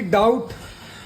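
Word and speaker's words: doubt: है डेटर है मतलब कर्जदार कर्जदार ऐसे ही डाउट डाउट में भी टी से पहले बी तो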